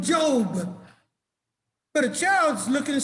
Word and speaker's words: Job: job not a job his name is yov but they call him job but a child's looking